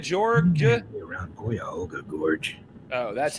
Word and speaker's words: Cuyahoga: Do we know any way around Pahoga, Georgia? Around Cuyahoga Gorge.